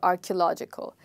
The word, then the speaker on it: archaeological: Many of us say K, but it's actually key.